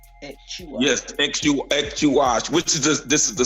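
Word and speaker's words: Ek Chuah: So how's that pronounced? Ekchuash? Yes, Ekchuash, which is this is the same meaning going back to the original Ekuahu.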